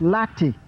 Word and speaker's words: late: By this I mean a word like late in English language was at first not pronounced late. Otherwise, it would not have been spelled with an E at the end. When the word was being written, the E at the end was pronounced. The word was latte.